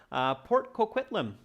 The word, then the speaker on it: Port Coquitlam: It's from my hometown area, so that's why I know the pronunciation. Port Coquitlam, yeah.